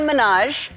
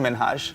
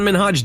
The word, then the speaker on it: Minhaj: yes no really well my name is Hassan minhaj oh Hassan minhaj didn't let Ellen's mispronunciation of his name slide during his 2019 appearance he interrupted her firmly correcting her on National Television the real way you pronounce it and this is a big deal cuz my parents are here it's hust minhaj he even called out